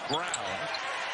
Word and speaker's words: Braun: Looks like Braun, pronounced Brown.